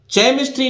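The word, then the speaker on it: chemistry: अब देखिए सी के साथ जब एच आता है तब देखिए एच कहां कहां, सी एच से तो चा बनता है, ठीक है, लेकिन सी एच से चा नहीं बनके एच का उच्चारण नहीं होता, अर्थात सी अकेला रह जाता है। और सी उस समय कैसा उच्चारण देता है? का का। तो देखिए जैसे सी एच ई एम आई एस टी आर वाई, केमिस्ट्री नहीं पढ़ना है इसको, एच यहां साइलेंट रहेगा।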